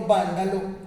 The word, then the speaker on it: vándalo: manera según la tilde pero que aquí se pronuncia como palabra esdrújula como habanos el reino vándalo estaba más tirado al